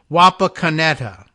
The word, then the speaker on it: Wapakoneta: looks to me like he's trying to say that the town is Wapakoneta, correctly pronounced.